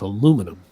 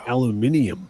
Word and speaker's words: aluminium: is this metal or is this aluminum? And I go, you mean aluminium? Aluminium. And she's like, what do you mean aluminium? And I'm like, well, it depends on what country you're from.